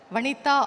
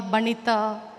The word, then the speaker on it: Vanitha: Uh I'm very happy because only in Tamil Nadu my name is pronounced very well vanita or every time I have a difficulty in my name. Sometimes in north they call banana.